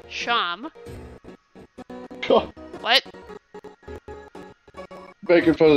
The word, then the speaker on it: Seam: The name's Seam. Pronounced Sham.